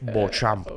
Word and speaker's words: Beauchamp: dicen por chaval eh okay Cómo se pronuncia tu apellido enseñaron Es bamp bamp bamp okay So Aquí tengo la caja